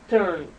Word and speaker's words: turned: that's when it ends so it turned okay turn ends with the D okay another way another